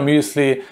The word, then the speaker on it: muesli: the bill here muesli this is how you pronounce it in german i don't know how you pronounce it in English but in german it it's the bill sure muesli when you see the